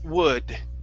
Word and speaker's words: would: um this word here the L is silent instead of wool wo it's wood wood w w w okay